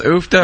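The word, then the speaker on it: uff da: So, and is that are we pronouncing that right, Dan? Ufta, yeah. Ufta is kind of a Norwegian expletive.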